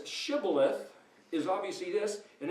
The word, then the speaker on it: shibboleth: So everybody who says shibboleth is obviously this, and everybody who says sibboleth is that.